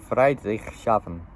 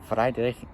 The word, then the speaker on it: Friedrichshafen: It took a while just to pronounce this word, but it's German. It's Friedrichshafen. Yeah, Friedrich. I can't even talk. Friedrichshafen.